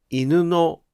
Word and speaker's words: 犬の: ところが、犬のは助詞のピッチが下がっていません。